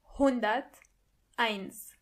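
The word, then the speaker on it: hunderteins: If you want to say anything above 100, you say hundert eins. hundert eins And don't forget the S at the end.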